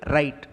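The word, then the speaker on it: wrote: ஸோ இந்த வேர்ட்லேயும் W pronounce பண்ணக்கூடாது, silent letter.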